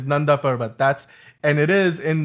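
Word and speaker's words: Nanda Parbat: parbat it's it was they like nand parb it's the most white way in which you can pronounce it cuz it's nbat that's what it is that's how you pronounce it it's nbat that's and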